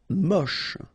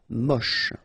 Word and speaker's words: moche: Moche. Don't insist on the final E, then you get the last sound is sh. Moche.